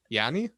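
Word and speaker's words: Giannis: because i know miami he's got his name again yanny that's how you say it in greek i i've been tired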